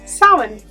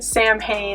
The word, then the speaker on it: Samhain: thought it was pronounced samhain or something like that in english however it's a gaelic word that represents or directly means the end of summer or the end of